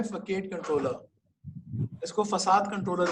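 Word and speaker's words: façade: आगे जाके एक गैंग ऑफ 4 का भी डिजाइन पैटर्न है जिसका नाम है फकेट कंट्रोलर। इसको फसाद कंट्रोलर भी कहते हैं। लिखा फकेट जाता है, प्रोनाउंस इसको फसाद करते हैं।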